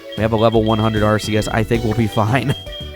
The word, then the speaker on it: Arceus: We want to take Arceus on over to the left. And yes, I know I'm pronouncing it Arceus and not Arceus. It's an old habit, man.